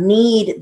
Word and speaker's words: knead: And then we have knead the doe. Again, the K is silent, so we just strictly write it as N-A-E-D.